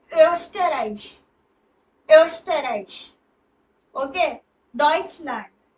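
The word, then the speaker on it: Deutschland: मतलब ऑस्ट्रिया यहां पे वो उमलाउड वाला उ आया है ओ आया है सॉरी उमलाउड वाला तो एस्टराइज एस्टराइज ओके डच लैंड प्रोनाउंसिएशन ध्यान से सुनना डच लैंड डिश स्वाइस शवाइस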